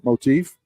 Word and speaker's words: motif: Motif. Motif. Yeah, or less teeth. Less teeth. Motif. No teeth. No teeth. Motif. that Brad with them big words again. Yeah, Good. motif. It's a 2-syllable word.